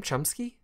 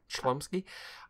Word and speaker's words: Chlumsky: Chomsky? Oh, there's the L in there. Chlumsky.